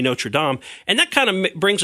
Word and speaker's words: Notre Dame: know just roll into Notre Dame because that to me is like you say when you read it that's what it says but you're exactly right the correct pronunciation should be no sure DOM and that kind of